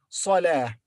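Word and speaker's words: صلاة: But when we pause after it, it is replaced in pronunciation by ha. So here, when we read this word separately, we say salah, not ta, but ha, salah.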